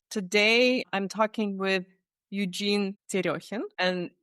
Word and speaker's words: Terekhin: Today, I'm talking with Eugene Terekhin, and the way I pronounce the name is because the name is Russian, and I am also from Russia. That's why it sounded probably a little bit weird. It's so good to hear it pronounced correctly, because nobody pronounces it correctly here in the States. So how do you pronounce it? Well, when people read it in the States, they read it as Terekhin.